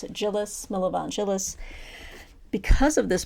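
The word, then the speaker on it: Djilas: DJ i l a so I'm assuming the D is silent but I just pronounce it jillis Milan jillis because of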